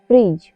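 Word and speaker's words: fridge: आई डी जी ई फ्रिज फ्रिज में भी D silent है क्योंकि डी के बाद जी आया हुआ है के एन ओ डब्लू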